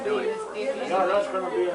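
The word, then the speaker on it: Dueck: And we pronounce it Duick more, like in the last 25 years it's been Duick.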